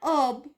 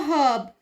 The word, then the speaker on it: herb: put an e and so it is an herb for American accent and a herb for British accent this American accent come from the fact that hope is a French word and in French all the H are silent there is another important